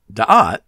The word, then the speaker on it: Da'at: Now, what's interesting about Da'at, it can also be pronounced Da'ath, by the way, is that